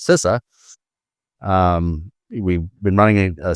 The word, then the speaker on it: CISA: and infrastructure security agency that we call we we pronounce sisa um we've been running